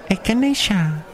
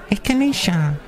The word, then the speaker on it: echinacea: Take some echinacea. Oh, I like the sound of that word. How do you say it? Echinacea.